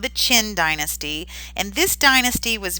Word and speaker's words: Qin: about a third dynasty this one is pronounced the Qin I know how do you get it out of Q but that's what it's called the Qin and you can see